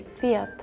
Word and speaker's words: Fiat: you try uh in Germany we say fat in English we say Fiat in Sweden we say Fiat in Spanish we say Fiat Italian too we say Fiat French as well Fiat I feel like that's